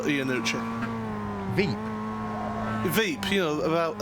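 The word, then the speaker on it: Iannucci: class team poto gppi ianucci inci there in the first place machine I only know how to pronounce that because of the guy who created vep is called Armando ianucci vep vep you know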